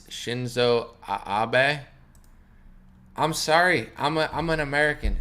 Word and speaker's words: Abe: someone said it's shinzo abe i'm sorry i'm an american shinzo abe i'm american we see abe we think lincoln you know shinzo abe